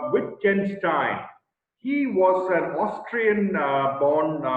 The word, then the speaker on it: Wittgenstein: major philosopher here is ludwig with wittgenstein it's pronounced with ken stein he was an austrian born man who worked